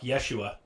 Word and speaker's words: Yeshua: No, Yeshua. Exactly. Yeah, it's Yeshua. You know, there was no fucking J back then.